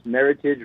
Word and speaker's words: Meritage: to remember it is meritage rhymes with heritage and so there was